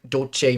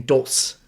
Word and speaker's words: Dolce: and when you say, it was just saying dos, right? Didn't know that it has to say dolce. So we would put the word right here, select, IPA for the pronunciation variable, and then I came in here, put do, se, or you could put do and then che, right?